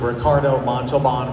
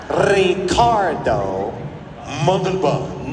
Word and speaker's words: Ricardo Montalbán: I wanted to ask if you have any fond memories of Ricardo Montalbán from Space Seed, or if you would just like to sing some of the Rocket Man song.